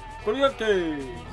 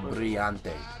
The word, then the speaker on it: brillante: Brilliante! Literally not how you say it. Brilliante? Just because you say it a million times doesn't make it right. I was saying it in different pronunciation. Brillante is how you say it.